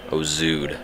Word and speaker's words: Ouzoud: three hour drive and the place is actually called hos ood I was butchered earlier comment like zoo zoo or something like that I pretty sure was